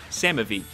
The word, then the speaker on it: Samavi: Donating again to say it's pronounced like Sam with an E and a V. Samavi.